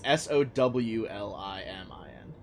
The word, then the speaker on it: Solomon: I thought it was Solimin. It's Sowlimin. Okay. Kind of like a pig, like a sow.